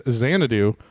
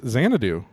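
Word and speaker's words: Xanadu: let's reveal KD says xanadoo Mike says Zen Chang and Kevin says zy for me Z for me sure uh no that's not correct it's zanadoo how do you spell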